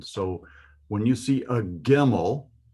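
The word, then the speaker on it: גימל: Let's look at our Hebrew text and see if we can find any gimels in this sentence. It's actually pronounced GIMEL.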